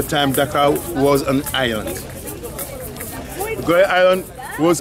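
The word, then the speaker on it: Gorée: Dutch called it Goree, a good road, because they used to come over here to stop and fix their boats. And Goree became French. French called it, mispronouncing Goree, called it Goree.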